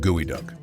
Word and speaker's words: geoduck: The name geoduck is pronounced gooey duck.